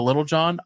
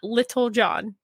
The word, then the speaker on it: Lil Jon: You should learn to say his name right first. Lil Jon? It's not Little John.